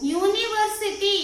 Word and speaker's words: university: University. It is a vowel. But your pronunciation, how it is? See, university. Ya sound. What sound it is? University. U sound means Y. Okay. Y sound it is coming.